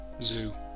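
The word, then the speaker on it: Xu: Because now I can go up there, I can challenge Zoo. Or, yeah, it must be Zoo. That's how X's are almost always pronounced when it's the start of a word.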